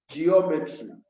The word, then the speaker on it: geometry: has been said that the third syllable from the last that is when you are counting from the end you count backwards the third one comes from the ends you count backwards the third one will give you the stressed syllable so you can see